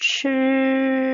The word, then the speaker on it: ㄔ: ㄔ and ㄘ ㄔ的發音方式是嘴巴微微張開 ㄔ is pronounced by opening the mouth slightly 並捲舌直到舌尖抵住上顎 and rolling the tongue until the tip of the tongue touches the hard palate 幾乎不振動聲帶 barely vibrating the vocal cords ㄔ chi ㄔ chi